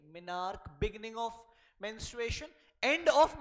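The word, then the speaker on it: menarche: क्या दो टर्म है मिनार्क ठीक है मिनार्क इज हाउ you pronounce the first term Mainak का मतलब होता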